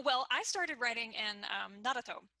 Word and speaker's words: Naruto: Oh well, I started writing in Naruto.